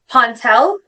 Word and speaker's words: Pontell: So, she's a staple now in our podcast, and we have Victoria Pontell. Did I Did I pronounce that correct, Victoria? Yes. Yeah. Okay, perfect. Victoria Pontell, she is a PhD in nursing education and